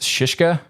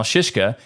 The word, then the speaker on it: Szyszka: this one which is apparently pronounced shishka I guess and while most file